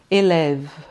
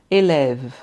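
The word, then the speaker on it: élèves: Então aqui eu vou ler elev. Eleve, tá? Porque eu não pronuncio nem o e nem o s, tá bom? Eu sei que tá no plural porque tá escrito, né, com s, mas eu não pronuncio, tá bom?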